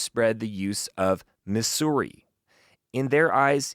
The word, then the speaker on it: Missouri: Missouri or mura and there was a movement in the late 19th and early 20th century mostly from easterners to try to enforce that hissing s pronunciation Missouri and it it failed of course dismally because people as prominent